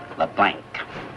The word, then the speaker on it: LeBlanc: That's a capital L, small e, capital B, small L, A-N, and a hard C. LeBlanc.